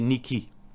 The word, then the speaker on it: Nike: prononce le mot Nike normalement mauricien prononce Nike mais le vrai veut dire prononciation c'est Nicky Niki ça c'est sophorité alors